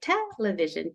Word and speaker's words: television: hear somebody say television see if you can catch where they stress it if it's in that first syllable or that second to the last but yeah I say it here television television and then I